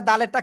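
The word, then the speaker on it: دال: আসি ঠিক আছে তাহলে দালেরটা আমরা ক্লিয়ার হয়ে গেছি তাই না দালেরটা সিম্পল উচ্চারণ দাল তিন আলিফ টান হবে শেষে এসে ল দাল কোন জায়গা থেকে জিহ্বার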